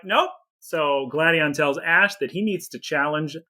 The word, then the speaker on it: Gladion: say it like that they say gladian as opposed to gladion oh it's gladion oh gideon people say